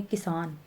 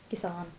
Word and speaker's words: किसान: जब हम छोटी ई की बात कर रहे हैं तो हल्का सा बोलेंगे किसान, किसान। लेकिन जब हम बड़ी ई की मात्रा की बात कर रहे हैं तो हम बोलेंगे वकील, वकील।